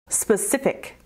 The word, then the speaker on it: specific: Specific. Specific has three syllables, spa-si-fic. And you emphasize the second syllable.